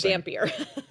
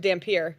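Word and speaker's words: Devon Dampier: I just learned how to say his name today. Danier. I thought it was Dampier. But listening to the Fox broadcast today, I learned Dampier.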